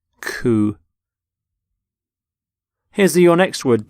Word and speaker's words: coup: of cou you don't say the P you don't sound the P at the end cou here's the your next